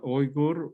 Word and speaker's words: Uyghur: called the uyghurs at the correct pronunciation is oigor which is the original root for the word yogurt yogurt um so the pakistani